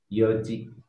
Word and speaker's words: yoji: Jadi khusus untuk angka 4 perlu diperhatikan N-nya hilang. Ya, N-nya enggak terucap ya. Jadi yoji.